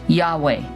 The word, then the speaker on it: Yahweh: from generation to generation the sound of the Hebrew letters that spell I am have been pronounced Yahweh which also has been